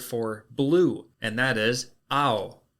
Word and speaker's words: ao: It's not O-W, it's A-O. Just remember that. It's just kind of pronounced that way.